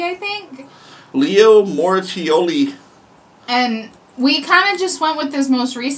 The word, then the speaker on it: Moracchioli: a metal cover by Leo moratioli you finally pronounced it right I want some more